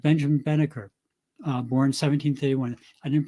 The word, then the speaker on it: Banneker: that wouldn't allow her in or like Benjamin Banneker born 1731 I didn't pronounce his name well Banneker b-a-n-n-e-k-e-r born in 1731 as the completely uneducated